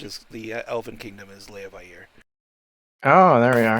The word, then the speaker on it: Leviathan: the Elven Kingdom is Leviathan. Oh, there we are. The Vi and the Air are technically 2 different. Yeah, they're pronounced separately, which is confusing.